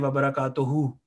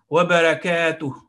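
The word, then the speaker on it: وبركاته: Assalamu alaikum wa rahmatullahi wa barakatuhu. So this ha at the end is not pronounced like that. It is ha. Wa barakatuh. Wa barakatuh.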